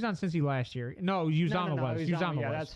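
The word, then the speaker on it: Uzomah: Isn't it Usamoah? Could you imagine? Yeah, he went to the Jets. It's Uzama. It's I thought Uzama. announcers It's said pronounced. Usamoah. No, it's pronounced Uzama.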